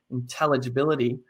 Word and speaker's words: intelligibility: word like for example let's look at the word intelligibility intelligibility the emphasis goes on the t sound there that there's another whole variety